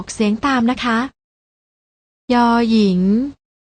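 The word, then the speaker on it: ญ หญิง: กัน ได้ แก่ พยัญชนะ ตัว แรก อ่าน ว่า ย หญิง และ ตัว ที่ 2 อ่าน ว่า ย ยักษ์ ลอง อ่าน ออก เีย เสียง ตาม นะ คะ ย หญิง ย ยักษ์ พยัญชนะ ที่ มี การ อ่าน ออก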